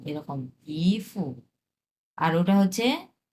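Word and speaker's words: 姨夫: এটা হচ্ছে 2 number tone, ইফু, এরকম, ইফু।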